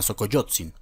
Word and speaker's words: Xocoyotzin: el imperio de moctezuma xocoyotzin en perdón yo coyoc xing xing xing vuelvo la equis no se pronuncia como jota en el idioma original pero bueno x donde